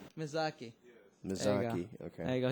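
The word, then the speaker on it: Miyazaki: pronounce his name Ha yai how do you pronounce his name Rie mizaki mizaki mizaki okay there you go he's he's he's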